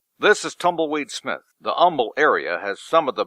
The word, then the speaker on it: Humble: You can always tell somebody from out of town in Humble. They always pronounce the H. Yeah, humble. When they say humble, you know you're a Yankee, probably.